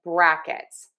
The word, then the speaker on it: brackets: So our syllable in word two that is stressed is the brack brackets. But then we say square brackets. We are going to make sure that we stress syllable number one.